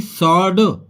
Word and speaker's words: sword: जैसे कि सॉर्ड, अब SO की आवाज आ रही है, सॉ, ना कि डब्लू की आवाज।